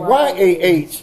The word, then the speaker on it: YAH: It was really saying Y-A-H. Mm-hmm. The I-A-H, it was not pronounced like that. It's how and how they in true Hebrew is written YAH.